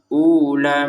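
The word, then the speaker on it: أولئك: Berarti huruf faunnya ini seakan-akan tidak ada. Iya, langsung saja ke la.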